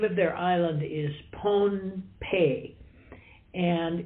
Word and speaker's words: Pohnpei: not the old days uh some still Now pronounce the name of the island as ponape uh but that's sort of an English version